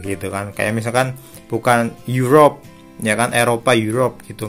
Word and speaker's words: Europe: atau an university, enggak, tapi pakainya karena yang dibacanya you gitu kan. Kayak misalkan bukan Europe, ya kan, Eropa, Europe gitu kan, bukan a Europe, bukan an Europe, tapi a Europe gitu ya.